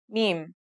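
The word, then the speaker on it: ميم: Now let's start with our first letter, Meem. This letter sounds just like the English M, and it should be pretty easy to pronounce.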